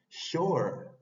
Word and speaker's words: shore: la palabra sh o esta o es bien para adelante parece como una c al revés pero más que una c al revés es una o abierta Por eso se dice sh o no es o es o con los labios hacia delante sh Shore Costa la t y